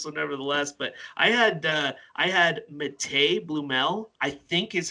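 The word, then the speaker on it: Matěj: camp last year, and that's how he pronounced his first name was Matej.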